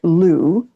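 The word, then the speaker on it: Lugh: luna luna and that's the great god lou who connects with bridget who was the craftsman who did who could do everything and his name is spelled l-u-g-h okay and the curious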